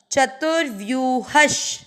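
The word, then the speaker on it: चतुर्व्यूहः: च में अ मिक्स करेंगे, च तू के साथ आधा र, चतुर, व आधे के साथ यू पूरा, व्यू, ह के साथ आधा श, चतुर्व्यूहश, चतुरात्मा चतुर्व्यूहश।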